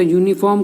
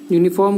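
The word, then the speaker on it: uniform: उसी तरह यूनिफॉर्म का उच्चारण या से होता है, यूनिफॉर्म का उच्चारण या से होता है।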